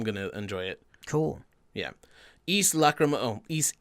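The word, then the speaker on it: Ys: I think also known as Wise to people who don't. I used to read it Yeah. like that, like until I was probably like 14 and was told that's East.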